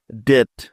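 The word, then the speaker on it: debt: রুলটি শেখে নেয়া যাক নিয়মটি হলো টি এর আগে বি বর্ণটি থাকলে ওই বি এর কোন উচ্চারণ হয় না তাহলে চলো এই নিয়মের কিছু উদাহরণ দেখে নেয়া যাক যেমন ডি ই বি টি ডেট ডেট এবার দেখো এই শব্দটাকে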